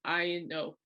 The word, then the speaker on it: Palomino: It's pronounced Palomino, Palomino.